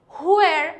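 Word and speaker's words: where: হুয়ার ওয়ার you born, ওকে, হা উচ্চারণ করতে হবে না, জাস্ট একটু জোরে হুয়ার ওয়ার।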